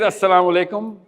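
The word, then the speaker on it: السلام عليكم: One thing about asalam alaikum say it properly not you but one one gathering somebody says assalamu alaykum and somebody says walaykums everybody else is done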